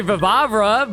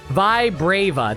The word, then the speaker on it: Vibrava: Mostly Vivabra, but Vivabra? How do you pronounce its name? Murkrow, Scyther, Miltank. No go. Vibarbra? Oh, Babs. A Golbat, a Skiploom, a Stunky. Vibrava, that's what it was.